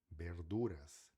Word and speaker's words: verduras: Espanhol, verduras. Lembre-se que V sempre tem um som de B, por isso que a gente fala verduras, tá bom?